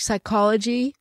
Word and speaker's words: psychology: of those words uh like psychology we don't say the P yeah and in French